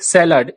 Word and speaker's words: salad: लेकिन इंग्लिश में इसे सैलड, spelling SALAD, सैलेड, सैलेड बोलते हैं।